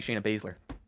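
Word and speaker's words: Shayna Baszler: 3 one sha Basler it's got be sha Basler that is correct those I'm always going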